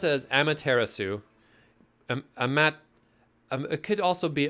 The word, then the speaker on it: Amaterasu: man this is gain heavy great and powerful Amaterasu could I be so bold as to request